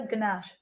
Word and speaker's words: ganache: Just a ganache. A ganache, there's no R.